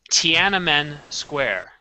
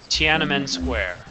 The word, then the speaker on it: Tiananmen Square: It's pronounced Tiananmen Square. Tiananmen Square.